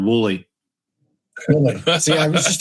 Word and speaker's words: Woolley: Pronounced exactly how it's spelled. Woolley. Woolley. See, I was just overthinking it. Mm-hmm. Yep, don't overthink it. Just Woolley.